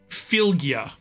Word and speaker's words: Fylgja: It's called Fylgja in Norse myth.